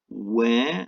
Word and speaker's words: where: Where, as in the question, is like air, and were, without the H, is a different sound completely, isn't it?